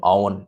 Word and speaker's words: Eoghan: and you show them how they spell the name Owen in Ireland, like Michael Owen. It's always funny because they never can seem to get like how you spell Owen in Irish. They just look at it and they're just like, huh? And it's like it's spelled like Oghan.